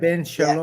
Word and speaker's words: Ben Shalom: Ben, did I pronounce it right? Sorry, B-E-N, right? Ben Shalom.